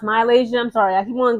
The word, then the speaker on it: MiLaysia: Malaysia full wiely okay I know it's pronounced Malaysia I'm sorry I keep